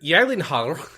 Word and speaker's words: Gyllenhaal: he was talking about how no one pronounces his name correctly ha ha ha where did that be the worst to like become super famous and then just nobody pronounces your name correctly at all he says the only time was pronounced correctly is when he goes to Sweden and IKEA yes so anyway mr. Yellen Haller is supposedly maybe going